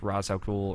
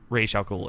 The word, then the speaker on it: Ra's al Ghul: Like Ra's al Ghul or Ra's al Ghul, excuse me.